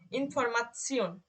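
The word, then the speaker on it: Information: যখন এটা একসাথে থাকবে তখন কিন্তু এটার উচ্চারণ হবে শিওন অথবা চিওন। যেমন ইনফরমাসিয়ন, ইনফরমাসিয়ন, আপনারা শিওনে পড়ে, ইনফরমাসিয়ন, দেখেন একসাথে কিরকম হচ্ছে, ইনফরমাসিয়ন।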